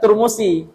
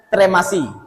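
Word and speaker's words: ترمسي: Ternyata ketika saya teliti kembali, ini bacanya bukan Turmusi, tapi bacanya Tremasi. Kurang mah kira-kira itu. Kurang Jawa gitu. Daerahnya daerah Tremas, Jawa.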